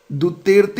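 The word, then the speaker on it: Duterte: देखो, Rodrigo दुतेर्ते इसका उच्चारण होगा।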